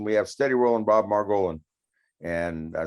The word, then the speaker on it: Margolin: steady rolling bob margolin they could kind of take a hint from the role in how the last name is spelled but the name mar golin seems to be almost impossible for some people to say yeah no i think